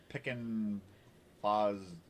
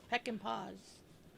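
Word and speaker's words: Peckinpah: Peckin Foz. How do you pronounce that? Peckin Foz? Where are you? Peck and Paws.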